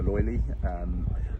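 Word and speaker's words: löyly: when adding the water, or it's called the loili, is it's just completely different experience, and a lot nicer. Is how you pronounce it? Loili? Loili, yeah.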